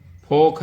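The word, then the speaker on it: folk: फोक है, FOL के फोल को होता है, फोक पढ़ा जाता है ना, ETC, ये सारी जानकारियां हैं आपकी।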